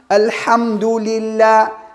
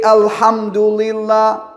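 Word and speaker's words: الحمد لله: keep in your mind every time i say lamb alhamdulillah i don't say alhamdulillah what i do this is the tears i put the tongue right behind the upper parts of the teeth between the teeth and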